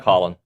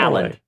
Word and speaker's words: Haaland: But it's spelled with an A. Holland from Norway. Halland, but it's Holland.